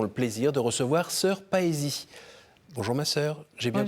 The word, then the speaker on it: Paësie: Aujourd'hui, nous avons le plaisir de recevoir Sœur Paesi. Bonjour ma sœur, j'ai bien prononcé ?